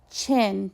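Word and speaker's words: Qin: the Waring States of China all became part of one country the Waring State all the way to the east was called chin pronounced chin its warlord chin Zen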